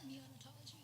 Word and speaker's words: neonatology: Neonatology.